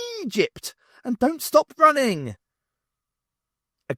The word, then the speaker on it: Egypt: It's the Eggyput zone, Zernic informed her. Angie gave him a look. Egypt. It's pronounced Egypt.